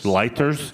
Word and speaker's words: Leiters: Michael, how do you pronounce this, Bob? This German, Leiters? Yes. Dr. Michael Leiters will become CEO of Porsche AG on January 1st.